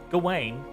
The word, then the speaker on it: Gawain: that's going I mean it's GA and Wayne so Gawain until Gawain discovered its